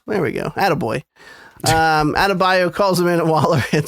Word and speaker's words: Adebayo: Amanda Waller her mother, fucking forgetting how to pronounce it. Adebayo. There we go. Attaboy. Adebayo calls Amanda Waller and says, I need backup.